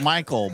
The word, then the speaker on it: Mackley: It's pronounced Michael, but it's So, all.